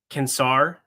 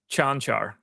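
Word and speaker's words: Čančar: Do you think that it happened to you that way because you didn't even have the decency to pronounce his name correctly? Kansar? Chanchar. Is it Chanchar? Yeah.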